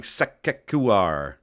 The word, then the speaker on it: Sak'Kuar: You are adding an extra sound in there, though. Am I? Yeah, you're going Sek'Kuar. Sek'Kuar. It's just Sek'Kuar. Well, I mean, arguably, I'm just fully pronouncing both K's.